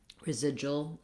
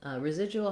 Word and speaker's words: residual: individual freedoms individual portion residual residual has the same kind of thing if i say residual with too much length on my unstressed syllables it's not going to sound natural if i say there